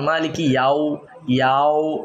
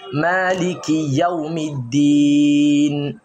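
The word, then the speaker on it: مالك يوم الدين: আর অনেকে বলে মালিকি, এটাকে মানে ইয়াকে মোটা করে পড়ে, যেমন মালিকি ইয়াও এবার মানে এইভাবে, এটা এক্ষেত্রে এটা ভুল। আসলে সহি তেলাওয়াত হচ্ছে মালিকি ইয়াও মালিকি ইয়াউমিদ্দিন।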